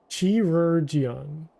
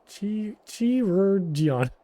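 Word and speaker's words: Chirurgeon: Yeah, how do you pronounce this? Chirurgion. Chirurgion? Chirurgion.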